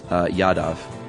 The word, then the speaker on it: Yadav: And this is how his name is spelled, Antriksh, Yadav, Yadav.